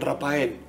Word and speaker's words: Raphael: sabíamos leer el nombre, decían Rafael. No, Rapa, ¿por no, qué? Por eso, porque el PH, Ra... PH es F.